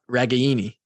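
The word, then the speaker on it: Ragaini: I'm pretty excited up it's pronounced the A and then any yep yep ragani it's Italian as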